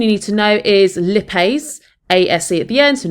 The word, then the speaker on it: lipase: help of the enzyme lipase sometimes pronounce lipay but you can say either or just make sure you